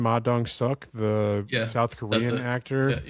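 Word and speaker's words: Ma Dong-seok: featuring what did we we looked up the pronunciation of his name? Maong Suk, the South Korean actor.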